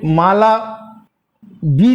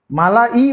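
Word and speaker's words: Malawi: আচ্ছা, এই যে মালা বি লিখেছি, এটা আমাদের এখানে মালা বি উচ্চারণ হবে, কিন্তু লেখা হবে মালা MALAWA, মালাবি, মালাবি উচ্চারণ, কিন্তু এরা স্পেলিংটা লেখে ডাব্লিউ, মালাবি। মালা ই বলতে পারো তুমি, বা মালাবি, যাই হোক।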